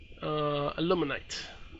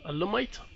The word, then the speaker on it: alumite: Aluminite. Alumite or aluminite? There's no N in there, so it's alumite. I guess I was saying it wrong the whole time.